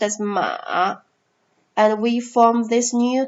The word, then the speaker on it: 马: This character actually is pronounced as 马.